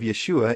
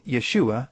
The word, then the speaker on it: Yeshua: The first sound of the second syllable of Yeshua is the sh sound.